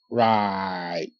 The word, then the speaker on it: right: light okay good right r i right right okay GH is silent GH in this case makes no sound okay now you see